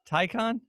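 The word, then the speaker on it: Taycan: this as well but the tycan take hand yeah rhymes with icon according to edmonds okay tycon that's just a pure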